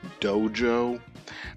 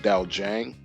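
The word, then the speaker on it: dojang: I keep pronouncing it dojo, but a friend of mine from college said it's pronounced Daojang.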